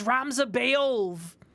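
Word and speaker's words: Ramza Beoulve: It's Ramza Beolv!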